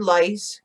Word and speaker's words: lice: Love the word lice. It's like right up there with nice and mice. Has the soft C.